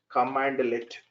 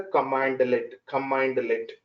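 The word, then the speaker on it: cmdlet: We should call as a command let. But written we will write in this style, but pronounced as a command let.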